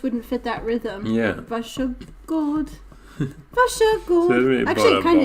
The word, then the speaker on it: Varsågod: Yeah, because varsågod just wouldn't fit that rhythm. Yeah. Varsågod.